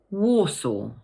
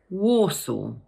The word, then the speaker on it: Warsaw: So just break it down into two parts, war and saw. The stress falls on the first syllable. So in full, we pronounce it Warsaw. Once more, Warsaw.